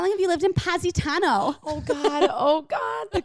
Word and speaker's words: Positano: i've been there and i called it positano am i doing it wrong how do you say it positano it's positano yeah not positano yeah that sounds so wrong